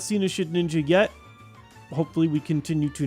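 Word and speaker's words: Shedinja: It is just Shedninja. There's no N. There's no ninja. It's ninja-ish, but it's not ninja.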